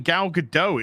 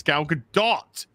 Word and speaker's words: Gal Gadot: why is everyone saying gal gadot it's gal gadot there's a strong t at the end as it's pronounced in hebrew it's gal gadot it's gal gadot i